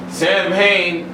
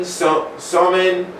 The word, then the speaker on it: Samhain: Samhain is pronounced Samhain, Samhain, Samhain, Samhain, Samhain. Okay. Other names is I'm not even gonna go there. Well, yeah, no. Other names for Samhain include Samhain, Samhain, Somin, Achishamna, Halloween, Halloween, Hallows, Hallowtide, Shadowfest, Allantide, Third